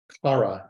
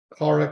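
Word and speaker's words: חרה: Kara, I think that's how it's pronounced.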